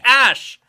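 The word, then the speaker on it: X Æ A-12: to hear the teacher it's pronounced ash that's how you pronounce it their name is ash and it's x a e a dash 12.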